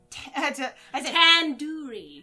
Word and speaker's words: tandoori: i want tender chicken you're saying it wrong wait really tenduri tandoori i would just say how did you say it pandori tandaori aha tandori tandori yeah tandori chicken aha tandoori the do isn't like door it's like doo